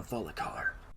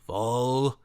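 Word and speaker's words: Volkihar: I notice that you've been mispronouncing that word this entire time. I only did it because Serana did. Hey, that was only because of my cold. Then what's the proper way to pronounce it? Volkahar.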